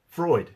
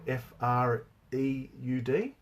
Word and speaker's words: Freud: I can't think of that other big psychologist Freud Freud that's it Sigmund Freud but the principles